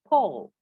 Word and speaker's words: Paul: Biasanya banyak yang membaca dengan Paul gitu. Kalau orang Indonesia bilangnya Paul ya, Paul, Paul. Nah, kalau dalam bahasa Inggris ini tidak dibaca dengan Paul, tapi Paul.